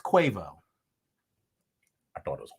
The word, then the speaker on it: Quavo: stallion and many others quavo his name is pronounced cuevo i thought it was guava i honestly thought it was cuava it's quavo